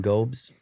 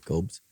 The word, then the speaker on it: Gobes: We've got Lauren Gobes. That's how you say her name. Yep, I think so. Gobes.